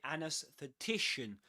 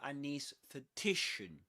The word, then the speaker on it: anaesthetician: You can say anaesthetician or anaesthetician. You can say both.